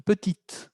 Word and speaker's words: petite: Pero con el adjetivo petit, pequeño, petit, si lo paso a femenino, dijimos, hay un cambio de pronunciación, petite.